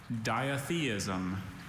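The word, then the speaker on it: ditheism: Diatheism. May I have all the information, please? Diatheism. That's the only pronunciation I have.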